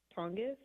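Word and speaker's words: Tonges: I think we'll see a lot from I'm gonna butcher the last name of the uh tight end Jake Tongis.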